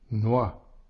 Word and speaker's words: noix: lettre X est muette noix ici le X ne se prononce pas choix ici le X